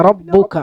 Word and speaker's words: ربك: പിന്നെ റബ്ബുക അവിടെ അതുപോലെ തന്നെ റാഇനെ കനപ്പിക്കണം. റബ്ബുക. എന്നാ കാഫിനെ കനപ്പിക്കരുത്, റബ്ബുക എന്ന് പറയരുത്. റബ്ബുക റബ്ബുക. കാഫിനെ നേർപ്പിച്ചു ഉച്ചരിക്കുക, റാഇനെ കനപ്പിച്ചു ഉച്ചരിക്കുക.